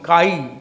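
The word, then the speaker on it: chi: इसे लिखते हैं KHI, काई, काई लिखते हैं। KHI माने काई, H साइलेंट है, काई, काई।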